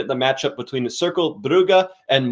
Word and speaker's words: Brugge: And how do we pronounce the BRUGGE one? Brugge? Brugge, yeah.